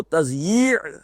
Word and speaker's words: تضییع: میں لکھا ہوتا ہے تو لوگ تثنیہ پڑھتے ہیں اسے، تثنیہ اوقات. یہ جو کہتے ہیں وقت کو ضائع کرنا تو وہ تثنیہ پڑھ دیتے ہیں اس کو، وہ تضییع ہے. اب اس کا تلفظ صحیح سے ہی کرنا تو بہت مشکل کام ہے، یعنی کہ دو یہ جمع ہو جاتی ہے اس میں.